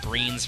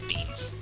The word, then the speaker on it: Beans: pronunciation of bomb beams I keep calling him greens for some reason but I know it's beans my bad anyway though